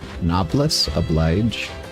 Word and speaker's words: Noblesse oblige: Noblesse oblige? I don't... Is that a word? Noblesse oblige is an Osu song? Really? That is popular? Huh. How do I say it? Noblesse oblige?